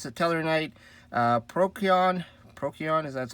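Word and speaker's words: Procyon: i play is the teller knight uh prokion prokion is that's how you say it uh if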